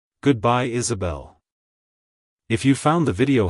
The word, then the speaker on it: Isabelle: to pronounce it correctly emphasize the first syllable is and the last syllable Bell avoid pronounce sing the as a like hello Isabelle goodbye Isabelle if you found the